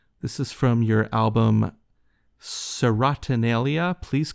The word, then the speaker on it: Serotonalia: This is from your album Serotonalia. Please correct my pronunciation.